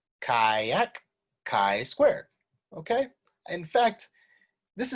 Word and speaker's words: chi: uh you should basically pronounce it like the first syllable in kayak all right kayak chi square okay in fact